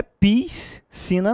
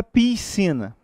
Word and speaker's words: piscina: Gente, não é piscina, não. Por que não é piscina? Porque você está lidando com um dígrafo. Dígrafo é um som apenas.